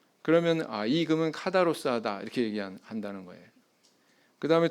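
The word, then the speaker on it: καθαρός: 정결이라고 이렇게 번역이 된이 헬라어 단어는 카다로스 이렇게 발음을 합니다 그래서 사전적으로는 순결한 정결한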